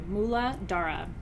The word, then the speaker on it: Muladhara: than up and the root chakra is pronounced where it I want to make sure I pronounced all the syllables for you mullah Dhara mullah Dhara okay spud dish Tana